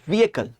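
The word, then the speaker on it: vehicle: था इसका गंदा प्रोनाउंसिएशन इसको पढ़ना आज के बाद व्हीएकल व्हीकल वर्ब पे छोटी वाली ई स्ट्रेस नहीं देना है ए और कल आने वाला कल ठीक है व्हीएकल सिंपल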